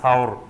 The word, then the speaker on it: সাওর: পাহাড়ের এখন যেটা জাবালে সুর বলে জাবালে নূর আর জাবালে সুর এই জাবালে সুর বা এটা শুদ্ধ উচ্চারণ হলো বলে সাওর এই সাওর পাহাড়ের গুহায়